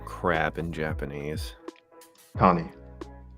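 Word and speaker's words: カニ: Kani. Kami? Kani. Kani. Yeah, kami is God.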